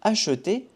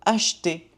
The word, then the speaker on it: acheter: Ici en français, pour le verbe acheter, les natifs disent plutôt acheter. On ne prononce pas le E.